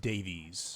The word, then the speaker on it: Davies: Dave's, you and It's pronounced Davies. I know what it's supposed to say. There's an I like E. saying Dave's. There's an E in there.